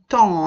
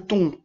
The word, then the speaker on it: temps: À nouveau, on insiste, c'est bien le temps, hein, c'est pas le ton. C'est bien un poisson blanc. On insiste. Le on est différent du en.